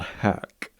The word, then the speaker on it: Haque: This one is called Hack. That's, as you can see it on the screen right there, it's spelled Haque.